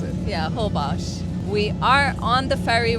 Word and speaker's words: Holbox: Is that how you pronounce it? Yeah, Holbox.